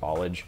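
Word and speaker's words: Ballage: I believe it's pronounced Bollage.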